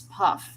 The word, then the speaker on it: Hufflepuff: Did I pronounce it as like Puff? It's Puff.